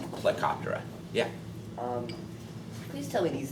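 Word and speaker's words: Plecoptera: grip and these are Stone flies which is pronounced helicoptera yeah um tell me these things are like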